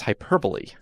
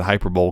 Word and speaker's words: hyperbole: But it's hyperbole. Yeah, I know. English is a stupid language. I used to pronounce it hyperbole because I never heard it out loud. It's like the Super Bowl, but it's like the Super Bowl, but better.